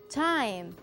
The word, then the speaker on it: time: es eso james & time esta palabra el último sonido es la m porque la e no se pronuncia y la y suena